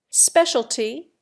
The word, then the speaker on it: specialty: Specialty, in America, is always accented on the first syllable. Speciality, in England, on the third.